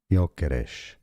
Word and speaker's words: Gyökeres: So in Swedish, it's pronounced as Victor Gyökeres.